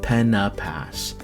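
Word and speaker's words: Pen-y-Pass: By the way, you'll hear me say Pena Pass a few times, cause that's how they pronounce it. Pena Pass.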